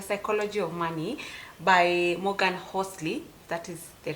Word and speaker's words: Housel: this book the psychology of money by Morgan Hosley that is the right uh pronunciation so I read this book I think